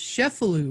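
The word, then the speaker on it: Cefalù: telling me all about that and it's also pronounced chefalu right you're right i was pronouncing it the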